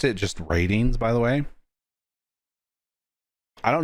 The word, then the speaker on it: RTINGS: I know there's no A, but I've always pronounced it ratings. And I think that's how you're supposed to pronounce it.